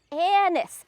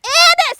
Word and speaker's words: anise: Okay, this is called sweet Cicely, or, and I gotta say this word carefully, Anise. Anise, I said it right this time, because it sounds like, you know.